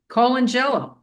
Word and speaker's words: Colangelo: Jersey and I said, how do you say this name? And she said, Colangelo. Yeah. That's how Italian people would say it.